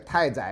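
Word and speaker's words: 大宰: 啊，好，另外一个太宰呀，啊，这个大通常都要念成太啊。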